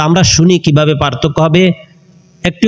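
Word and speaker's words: ه: তা আমরা শুনি কিভাবে পার্থক্য হবে। একটি হলো হা, আরেকটি হলো হা। প্রথম হা যেটি, সেটা হলো কণ্ঠনালীর শুরু থেকে। দ্বিতীয় যে হা, সেটি উচ্চারণ হবে কণ্ঠনালীর মধ্যবর্তী স্থান থেকে।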